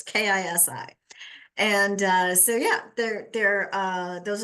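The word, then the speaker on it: ქისი: I got that one right. I know I've got Kisi right. It's Kisi.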